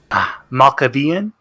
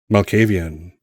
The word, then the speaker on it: Malkavian: what's what's what are his pronouns he always pronounces he say them and uh what's what is jean baptiste's clan maccabean malkavian malkavian sorry that's right don't be sorry nevermind